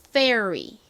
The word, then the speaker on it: fairy: 그래서 어떻게 되냐면 fair R은 Y랑 연결되어서 fairy, fairy 이렇게 발음이 납니다.